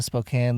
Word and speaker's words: Spokane: come and said hi in places like Tacoma Spokane Louisville Austin right where was it after Tacoma spoke oh you caught me pronouncing Spokane correctly and I'm sure I'm forgetting